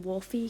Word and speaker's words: Wolfe: them also the name wolfie come on you couldn't even spell it right like with a y or an ie you had to make it an e technically it's pronounced wolf also um they're like